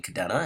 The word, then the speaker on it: Kadena: there in Oklahoma including Kadena and it's pronounced Kadena and Japanese and a lot of you correct me on that but the local dialect is Kadena I understand great now JTWC kind